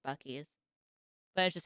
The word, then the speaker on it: Buc-ee's: Yes, I know it's pronounced Bucky's.